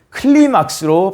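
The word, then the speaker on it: κλῖμαξ: 실제로 사닥다리에 해당하는 헬라어는 클리막스로 발음합니다.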